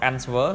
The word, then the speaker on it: answer: k អូខេនេះប្រែប្រួលអញ្ចឹងតើយើង check បើយើងដឹងថាហ្នឹងអាហ្នឹងវាអានយ៉ាងម៉េចវិញណាទី4គឺពាក្យថា answer យើងមិនមែន answer ទេបើយើងអានតាមប្រកប answer តែអត់ទេគឺគេអានថា answer អញ្ចឹងអក្សរ W គឺ silent ណា silent